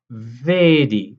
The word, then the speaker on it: vedi: to really govern this vedi is a closed e vedi le foske fosuke